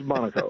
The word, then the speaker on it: Monaco: Is that how it's pronounced? Monaco? Yes, sir. It is Monaco.